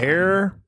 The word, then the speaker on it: heir: find it interesting that in the American language we have decided that he eir is air the same as air like the air we breathe and not hair which is h a